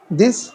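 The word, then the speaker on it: the: इसको हम लोग दी पढ़ेंगे। ठीक है? क्यों? क्योंकि ये जो आगे इ आया है, ये हमारा वोवेल साउंड है।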